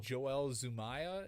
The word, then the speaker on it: Joel Zumaya: But my number 2 is Voodoo Child by Jimi Hendrix, and I think it was Joel Zumaya. Is that if I'm pronouncing that right?